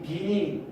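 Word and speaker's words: Wien: 이 빈이 W를 시작하는데 왜 빈이 W일까? 맞아, 이 독일어 문화권에서는 이 W가 이제 V 발음에 가깝대요.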